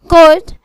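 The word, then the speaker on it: could: silent L, arms खैरात arms, balm मरहम balm, Kaif बिछड़ा Kaif, काम पुरसकून काम, कुड कर सकता था कुड, फोक अवाम लोग फोक,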